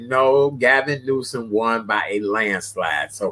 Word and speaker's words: Newsom: Well, California is back, under the control of Gavin Newsom. Did I say his name right? Yes. You said it right.